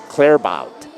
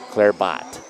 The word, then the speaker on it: Clarebout: Ace serves is Briel clarebout Clare bot clarebout there I got it that time they told me I must pronounce it last time Clare bout is what it is so my apologies to